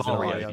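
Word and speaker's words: Varjo: The J is Vario.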